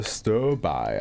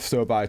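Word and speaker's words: sterbai: Okay, we got our next offer, Stir By, I believe it's pronounced.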